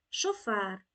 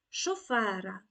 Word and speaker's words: шофер: як правило не називають слово шофер досить недавня запозичення з французької мови звідси і постійний наголос у слові шофер шофера шоферові шофером Отже сучасній українській мові шофер